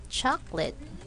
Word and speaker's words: chocolate: the word is chocolate when we write this word we say CH late oops I'm sorry chop light looks like three syllables but in speaking we only have two chocolate okay guys let's try